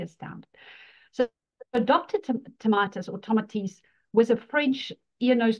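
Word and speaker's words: Tomatis: with the the the tatus method when I pronounce it which should actually be tomates in the French pronunciation yes you know and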